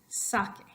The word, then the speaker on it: saque: On the first one, there is no written accent mark, but you know that it's sake. So pronounce that after me, a little bit extra oomph on the first syllable.